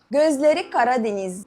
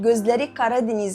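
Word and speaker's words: Gözleri Karadeniz: اللي نازله جديد مترجمينها صح ولا لا نتعلم نطقها مع بعض جوزلاري كرادينيز جوز اللي هي العين جوز لاريه عينيها كرادينيز بيشبه عينيها بجمال منطقه البحر الاسود لما نيجي نقول جوزلاري كرادينيز عينها كالبر الاسود فاذا دي ترجمه صح نازل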